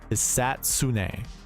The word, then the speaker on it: Hisatsune: By the way, I was listening to how you pronounce Hisatsune, and it's just, if you say it fast, it sounds like me. If you pronounce it correctly, it's Hisatsune.